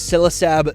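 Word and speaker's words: Ksilisab: And of course, the name is Silasab. The K is silent because this is Basilisk backwards.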